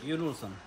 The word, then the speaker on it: Jon Olsson: Jon Olsson.